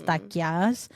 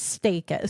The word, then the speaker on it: Stakias: Sarah always yells at me that I don't say it like the Greek way, that it's Stakias. But, you know, the American version is Stakias.